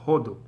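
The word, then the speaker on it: הודו: Hindi, Hindu, Hodu, with a stress on the first syllable, Hodu.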